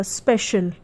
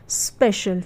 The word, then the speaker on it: special: फिर है SPECIAL, इसमें भी सी के बाद आई है तो सी का उच्चारण श हुआ, स्पेशल, स्पेशल, ठीक है।